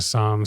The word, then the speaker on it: Somme: That's how you pronounce it. Somme. As sommelier.